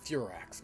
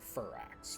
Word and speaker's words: Furax: he's a loyal soldier that's pronounced furax not fur axe for axe would be